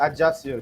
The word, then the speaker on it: Ajaccio: Just how do you pronounce this? Is this Ajaccio? Yeah, Ajaccio. Just call it Ajaccio.